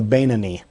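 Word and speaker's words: Beinoni: one known as the the Ben O'Neill or sometimes pronounced the banani the one who is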